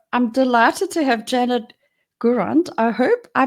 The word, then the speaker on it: Gourand: So, I'm delighted to have Janet Gurand. I hope I pronounced your name right, Janet.